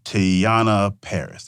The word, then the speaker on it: Teyonah Parris: Jamie Foxx, John Boyega, and Teyonah Parris.